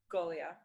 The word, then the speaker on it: Goglia: So, Emily, Goglia.